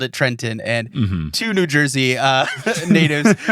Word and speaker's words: Trenton: You can't pronounce the second T in Trenton.